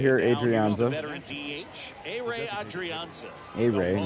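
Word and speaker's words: Ehire: A-Ray, not A-here.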